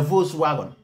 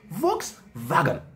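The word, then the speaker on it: Volkswagen: it as Nigerians we all call it uh Vol wagon V Vision Vol wagon whatever you want to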